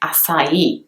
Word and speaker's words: açaí: the majority of dish the original pronunciation of this is the I has a little stroke on top of it and it is actually enunciated and stressed so the e at the end would actually